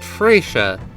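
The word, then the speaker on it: Fretia: Next up is our first of 3 planeswalkers, whose name I am being told is pronounced Freysha, White Priestess of the Fount.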